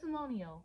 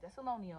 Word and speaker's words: Thessalonians: in the chapter the lesson the lesson this thessalonial see I got it right Thessalonians I had to pronounce it okay I'm wearing thessalonia where we're